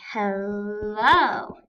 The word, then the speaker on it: hello: We could say hello. We stress the second part of the word.